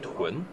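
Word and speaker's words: 屯: This bud part is pronounced as Tun.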